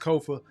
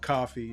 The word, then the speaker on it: Kofa: Once again, I am your humble host, Kofa, K-O-F-A, not coffee, not, not Kofi, or any variation thereof. Kofa rhymes with sofa, easy to say, easy to spell.